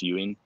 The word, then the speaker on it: yuan: can't be the chinese yuan are you in uh that's actually i had a chinese guy it's pronounced ewing because they basically print